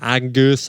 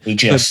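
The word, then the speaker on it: Agius: I just want to give a big shout out to Senna Angus. I can never pronounce his surname. Aegis.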